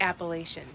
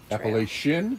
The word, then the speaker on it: Appalachian: at nobo okay now how do you say the name of that trail if you say the whole world appalachian appalachian appalachian i'm from chicago shin and it's not appalachian appalachian appalachian appalachian all